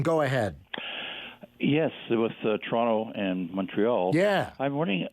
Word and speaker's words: Toronto: a little bit it's toronto but if you're outside of canada or maybe even outside of toronto you pronounce the second t it's just for whatever